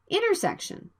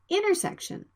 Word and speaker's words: intersection: approach the approach the the nt sound is between vowels the t sound can be dropped intersection intersection if we say it